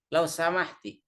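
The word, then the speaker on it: لو سمحتي: Lau samahti. Nah, ini kan ke perempuan. Kalau ke laki-laki cukup lau samah. Kalau ke perempuan dibaca ti-nya sama dengan biki.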